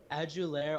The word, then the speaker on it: Adulare: him not to mention how'd you add you there right that's how you say his name yep aju lair also has basically a